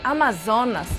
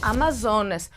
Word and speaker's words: Amazonas: tem referências a guerreiras Amazonas Ou seja a pronúncia em português da palavra Amazonas bem parecida quando o grego Amazonas e de acordo com a